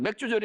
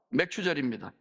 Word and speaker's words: 맥추절: 맥추절은 이 발음이 좀 거시기하잖아요. 맥주절이 아닙니다. 맥추절입니다.